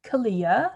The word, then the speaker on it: Kalia: brand on youtube and carrie underwood herself said kalia so it rhymes with aaliyah so you heard it here first that's how you pronounce this brand i'm not in charge